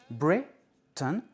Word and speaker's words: Britain: Le mot mansion où I O N est prononcé un, mansion, et le mot Britain, Britain, où les lettres A I N, inaccentuées, sont prononcées un.